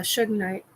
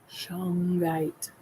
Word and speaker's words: Shungite: Yeah, Shugnite. Shungite. Never pronounced that one correctly.